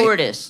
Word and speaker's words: Cordes: Cordes, am I saying that right? Cordes, the white version.